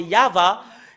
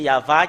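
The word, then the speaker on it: יהוה: chef des Juifs c'est c'est ce que nous voyons dans le chef des Juifs c'est yava et ça prouve très bien que voilà la vérité juste en haut qui confirme cette ce terme que c'est yava qui est le vrai il avit n'est pas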